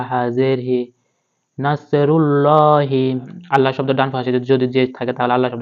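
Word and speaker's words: نَصْرُ اللَّهِ: মোটা করে পড়তে হবে নাসরুল্লাহি এখানে মোটা করে পড়তে হবে নাসরুল্লাহি ওয়াল ফাতা ফাতা ওয়াল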